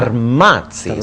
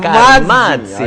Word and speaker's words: Carmazzi: beside me today, Arthur Carmazzi, but I didn't pronounce that really well. Carmazzi. See, you have to say it like an Italian. Carmazzi.